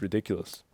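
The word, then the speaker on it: Riddikulus: And that's why that spell is called ridiculous. Yeah. It's not any fancy Latin word. Yeah. It's just spelled a little differently with the captions. It's spelled with a K. But it's literally like ridiculous, like fear.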